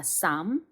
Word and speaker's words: Psalm: 시편은 여기 안내에도 잠시 나와 있듯이 보시면 P와 L 이 묵음입니다. 그래서 Psalm이라고 읽어주시면 됩니다. Psalm, chapter 86, verse 15.